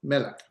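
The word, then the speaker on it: מלך: Melik, that's a segment noun uh with the accent on the first syllable and just happens to be.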